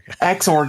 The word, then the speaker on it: Xorg: exclusively on Wayland, dropping Xorg support. Though X11 applications Xorg Xorg, sorry. No, that's good. Yeah, I know. I was I've never heard anybody say that. It's Xorg. Sorry. It's Xorg.